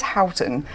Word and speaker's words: Houghton: or pronounce my surname it is Howton hton does exist I got it but there is a place called West Horton in North Manchester guess how that spelled oh okay sorry about